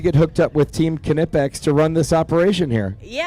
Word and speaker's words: Knipex: Uh proud to bring on we've got Annie and Audrey who are with Team Knipex and I'm pronouncing it correctly which is fantastic. Knipex is the right way and uh yeah, you nailed it.